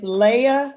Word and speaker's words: Leia: paige and finally genesis it's it's leia and natalie leia i'm sorry leia i want to get that right people mispronounced my name